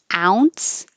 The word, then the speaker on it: ounce: Ounce and ounces. I put AU for ow because the phonetic symbol is the AU combination.